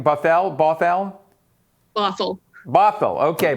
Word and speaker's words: Bothell: shore school district and i'm hopefully i'm not mispronouncing this buffal is that right buffalo bothell fossil bothell okay bothell that one i didn't give me a section